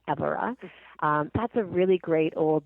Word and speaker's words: Évora: And the main towns there are, Évora, which most people pronounce Evora, but it's pronounced Évora.